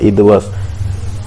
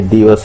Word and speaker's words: दिवस: ही pronounce करना है, तो वो बोले ईदवस, इदवस। ये इदवस नहीं है, ये दिवस है।